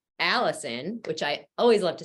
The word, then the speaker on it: allicin: five or ten minutes it activates something called allicin which I always love to say because that's actually my name um it's spelled differently but that's the compound in garlic